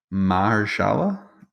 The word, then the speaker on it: Mahershala: Mahershala?